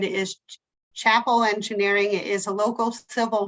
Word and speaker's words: Chapel: And then I'm going to pronounce it wrong. I was already corrected. It's Chapel. I keep calling him Chappelle.